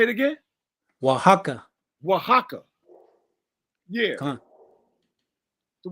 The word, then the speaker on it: Oaxaca: Oaxaca. Am I saying that right? Salaki, sir, or Oaxaca. Say it again. Oaxaca.